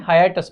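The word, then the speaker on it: hiatus: अब इसको याद, मतलब इसका ना प्रोनाउंसिएशन थोड़ा सा अजीब है। ये हाई है और फिर ये ए है, तो हाइएटस इसको पढ़ते हैं, हाइटस नहीं पढ़ते हैं, हाइएटस पढ़ते हैं, ठीक है।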